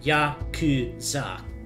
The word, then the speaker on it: Yakuza: So, fun fact, in Japanese, 893 is pronounced Yakuza.